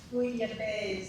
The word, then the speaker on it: bouillabaisse: It's pronounced bouillabaisse, and I think you'll love it.